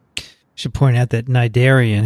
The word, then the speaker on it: cnidarian: I should point out that cnidarian has a C in front of the N, which is silent.